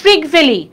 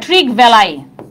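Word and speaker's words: Trygve Lie: হ্যাঁ, দেখো প্রথম মহাসচিবকে জাতিসংঘের ট্রিগ ভ্যালি, বা অনেক জায়গায় উচ্চারণটা এরকম হয় ট্রিগ ভ্যালাই, কোনো সমস্যা নাই, একই কথা।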